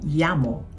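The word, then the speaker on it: llamo: Ang meyamo may double L din kaya ang pag-pronounce naman nito ay yamo.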